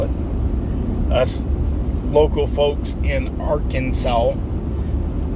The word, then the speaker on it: Arkansas: um I grew up in a town in Arkansas or ar Kansas as some people call it us local folks in Arkansas pronounce it Arkansas and uh I lived in